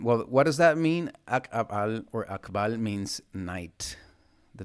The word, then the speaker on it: Ak'ab'al: So the next sign let's begin with the pronunciation the gloal accents akabal ak you just like cut the with your throat just make a space aal that's in kiche Okay, it works in similarly with most eastern branch highland Maya languages.